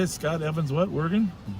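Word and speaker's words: Wergin: Worggan.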